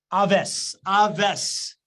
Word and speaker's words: Awais: Aves is how I pronounce it.